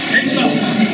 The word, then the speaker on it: Pesach: By the way, the word Passover in Hebrew is the word Pesach. You know those are good singing sounds. Let's try it. Pesach. Passover. There you go. The word Seder, I guess in English it's spelled typically S-E-D-E-R.